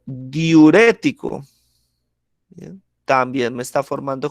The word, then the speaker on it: diurético: Y si ustedes analizan, está en esta sílaba el acento, ¿sí? Que sería la tercera sílaba o la antepenúltima sílaba.